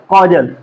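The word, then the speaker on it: causal: इसको कैजुअल पढ़े, इसको कॉजल पढ़ेंगे। ठीक है, कहीं ना कहीं प्रोनाउंसिएशन में काफी सिमिलरिटी है, ठीक है, लेकिन इसको कैजुअल, इसको क्या पढ़ेंगे, कैजुअल, इसको क्या पढ़ेंगे, कॉजल, कॉजल।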